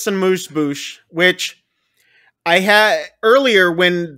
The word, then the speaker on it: amuse-bouche: Then we get on the screen amuse-bouche. I knew you'd know how to pronounce that.